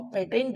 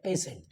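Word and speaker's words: patient: आई ई एन टी तो इसको हम पेटेंट ना पढ़कर क्या पढ़ते हैं पेशेंट क्योंकि पेटेंट भी होता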